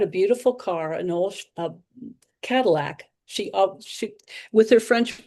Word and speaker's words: Cadillac: So she had a beautiful car, an old Cadillac. She she with her French pronunciation, she thought it was Cadillia.